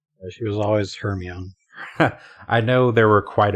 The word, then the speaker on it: Hermione: I pronounced Hermione Herian until the movies came out.